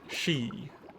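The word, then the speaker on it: sidhe: the Arts of the she that are beyond your comprehension and yes that is how you pronounce that word it is pronounced she it's um hetic uh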